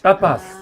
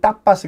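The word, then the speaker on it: tapas: 근데 이제 저희는 아까도 말했지만 T를 네. 세게 발음하거든요. 그래서 네. 타파스. 따빠스. 우리가 이제 영어로는 타파스 그러지만 타파스 그러지만 여기는데 타파스라고 타파스.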